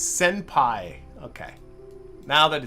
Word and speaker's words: senpai: I keep saying that. It's senpai.